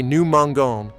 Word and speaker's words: mangeons: Students forget to add the E before ONS for GER verbs. They say nous mangeons instead of nous mendions. Remember, GER verbs need that E to keep the soft G sound.